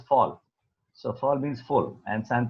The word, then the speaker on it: Voll: So Volsante actually is a German word, so it's pronounced as fall.